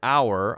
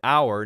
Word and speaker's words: hour: vowel a vowel sound so if I say an hour I say an hour not because of how it starts it starts with an h h o Ur but because of how it sounds it doesn't sound like how it sounds like hour it's a vowel sound even though there's an H there so that's why it's